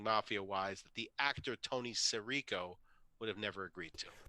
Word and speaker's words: Sirico: Sorry, I think I'm mispronouncing it. It's Sirico, right?